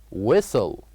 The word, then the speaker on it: whistle: is a whistle and whistle is a word that has one silent letter which is in this case the letter H so here we write Edge but we don't say it we say whistle whistle and the other